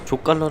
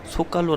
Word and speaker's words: Zócalo: 정말 자 팝니다 조까 너 라고 불러야 될 것 같지만 솎아 노 라고 발음을 해야 됩니다 소 껄로 광장은 시즌별로